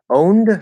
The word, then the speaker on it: owned: a very important point owned does not have an e sound okay remember usually the